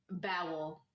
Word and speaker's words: bowel: it one more time bowel thank you it's spelled exactly like towel I just want you